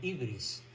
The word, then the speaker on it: hubris: que los griegos llamaron hubris, la locura por el poder. Hubris y otros la llaman ibris, pero es lo mismo. Se pronuncia con U o con I, es lo mismo.